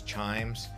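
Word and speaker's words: CHIJMES: very famous Colonial area known as Chimes uh it's got a J in the middle so take note of that when you're trying to pronounce it along the Chimes Junction and Chimes Street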